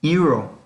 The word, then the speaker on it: euro: Otro ejemplo es euro. Es lo mismo, inicia con vocal, pero esa vocal tiene dos sonidos, u.